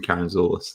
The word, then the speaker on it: Karantzoulis: so uh the k is easier easier to pronounce than karen zulus that's uh that's how you actually pronounce it